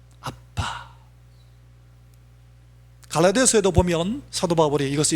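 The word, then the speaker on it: אבא: 아버지가 아람어머로 어떻게 발음되는 거? 아빠입니다. 아빠.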